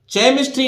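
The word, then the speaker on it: chemistry: एस टी आर वाई केमिस्ट्री नहीं पढ़ना है इसको एच यहां साइलेंट रहेगा तो देखिए के मिस्ट्री केमिस्ट्री रसायन विज्ञान को बोलते हैं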